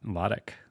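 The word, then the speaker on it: Lotich: say it a lot ltic it sounds like you spell it phonetically it's l A- TI c k I guess so it's not loti it's not l or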